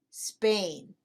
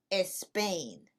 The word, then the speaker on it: Spain: Spain, not Spain. ¿Y por qué no? Because we do not use the letter E as a help to pronounce the letter S when the letter S is the first letter in the word.